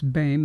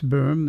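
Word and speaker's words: Boehm: system world or the what we call the berm system world which people incorrectly pronounce bame it's not bain it's burm it's a it's an umulato but anyway uh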